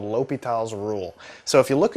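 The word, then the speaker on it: L'Hôpital: the actual pronunciation is a French guy and so you pronounce things a little differently and it's called l'hopital's rule ok so it's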